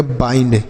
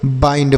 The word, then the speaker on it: bind: आई के बाद ND है तो आई का उच्चारण आई होगा। BIND तो इसे हम पढ़ेंगे बाइंड। क्या पढ़ेंगे बच्चों? बाइंड पढ़ेंगे।